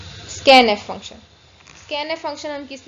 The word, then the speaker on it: scanf: ठीक है, तो ये हम इसको नॉर्मली प्रोनाउंस कैसे करते हैं, स्कैन एफ। इसको कैसे प्रोनाउंस करते हैं, स्कैन एफ।